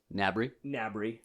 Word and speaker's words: Gnabry: So the first one is Serge, I think it's Gnabry. G is silent.